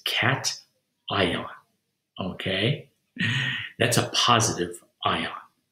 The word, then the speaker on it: cation: with her students and pronounce this as cassian and that that is not right it is cat ion okay that's a positive